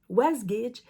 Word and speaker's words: Wasgij: ça que ça s'écrit was gidge alors faut vraiment prononcer le J moi on a souvent prononcé was was GID mais c'est was gidge la compagnie was GID